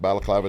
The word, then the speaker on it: Balaclava: been with Bal clava diary since the beginning you know what I'm saying said it right big up to that